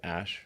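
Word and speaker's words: Æ: The AE is like pronounced Ash.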